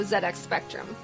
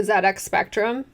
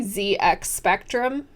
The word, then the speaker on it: ZX Spectrum: I didn't grow up with a ZX Spectrum, and I have an American accent, so I pronounce the letter Z, like Z-E-E, not Z. And in one of my early videos, I say ZX Spectrum, because I never heard